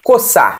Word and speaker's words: coçar: Por exemplo, quando você pega a letra C e vai falar de carro, cavalo, coçar, esse C foneticamente é um K, beleza?